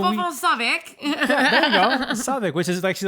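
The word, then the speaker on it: Southwark: uh yeah so onic yeah there you go svic which is actually like it's pronounced uh southwalk southwalk but they say what svic um yeah it's crazy like we had a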